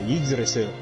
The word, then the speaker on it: Yggdrasil: I don't know how to pronounce that. What is it? Yggdrasil.